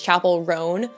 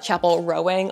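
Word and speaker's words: Chappell Roan: wrong that entire video it's Chapel ran like a ran horse not Chapel rowing like rowing a boat my cat's feeder went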